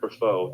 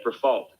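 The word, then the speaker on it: Briffault: it's actually for false you don't have to give it a french pronunciation okay for fault thank you for for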